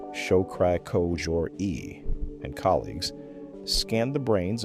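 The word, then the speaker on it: Shokri-Kojori: In 2018, a team at the National Institutes of Health, Ehsan Shokri Kojouri, pronounced Show-kri Ko-jour-i, and colleagues, scanned the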